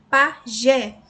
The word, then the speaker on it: pajé: Pajé, o Gé, a última sílaba mais forte, oxítono, terminou em E, recebe acento.